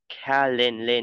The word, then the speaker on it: calendar: on outside, in lunar calendar nhá, đọc là lên, e, calendar, nhưng trọng âm rơi vào âm a.